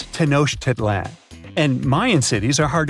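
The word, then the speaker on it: Tenochtitlan: It's tanoshedan. And Mayan cities are hard to pronounce too.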